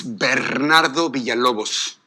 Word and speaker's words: Bernardo Villalobos: My name is Bernardo Villalobos. Bernardo. If you can't roll your R's, please, don't embarrass yourself and just call me Mr.